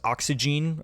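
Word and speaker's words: Oxygène: I have Jean-Michel jars oxygene or oxygen however you want to pronounce it now this has definitely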